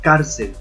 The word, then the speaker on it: cárcel: Entonces la pronunciamos cárcel y entendemos que el acento está acá, la primera sílaba acá.